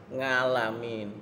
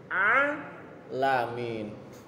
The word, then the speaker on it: alamin: Karena di Al-Quran nggak ada huruf ngalamin. Yang ada alamin.